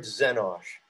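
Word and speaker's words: xenosh: yours truthfully the word zenosh x e n o s h and of course it comes from the greek xeno meaning foreign or alien it's an x but it's pronounced like a z so who are the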